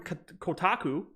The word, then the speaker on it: Kotaku: A new report from Kotaku. Did I pronounce that right?